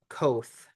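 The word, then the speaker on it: coth: And finally, we have the hyperbolic cotangent function, which is pronounced koth, kind of rhymes with boat.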